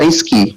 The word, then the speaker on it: Rezki: Karena contoh, saya ketika nama saya Rezki, ijazah saya yang dari Al-Azhar, kalau kita baca secara bahasa Arabik, dibacanya Rizki, bukan Rezki. Karena kenapa? Dalam teks Arabik tidak mengenal vokal E.